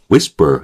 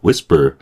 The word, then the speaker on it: whisper: 여기서 우리가 위스퍼 할 때 앞에 있는 거 세게 해주고요. 뒤에 있는 거 죽여요. 그러니까 whisper 약간 여기서도 그 우리 저 슈아 현상이 좀 벌어지는 거예요.